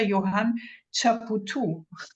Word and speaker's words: Johann Chapoutot: University of Paris-Sorbonne under the supervision of Professor Johann Chapoutot. Yes, pronounced correctly.